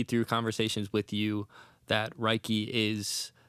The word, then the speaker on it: REIKI: No one, just like, I say REIKI and they say Ricky and it's like, sure.